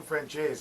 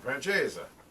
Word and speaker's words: francese: chicken princesses for tonight or chicken francese or chicken francesa depending on where you're from how you pronounce it um it's essentially